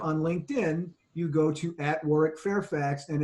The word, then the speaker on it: Warwick: And that is true for Warwick as well. I always tell people, if you want to engage Crucible Leadership on LinkedIn, you go to @Warwick Fairfax, and it's with the silent W in the middle, WARWICK Fairfax.